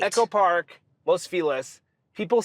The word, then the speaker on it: Los Feliz: I guess the family that it's named after was pronounced Los Feliz.